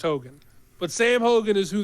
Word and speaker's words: Heughan: I believe his last name is pronounced Hogan, but spelled Heughan. I believe it's pronounced Hogan.